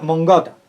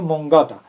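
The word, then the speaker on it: mångata: Porque esto es una palabra sueca y se lee o se pronuncia mongata, algo así parecido, mongata.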